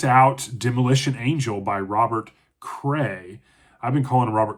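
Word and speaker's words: Crais: I knocked out Demolition Angel by Robert Cray. I've been calling Robert Crass, but the S is silent. So, I think it's Robert Cray is how you pronounce his name, but Demolition Angels, a standalone book.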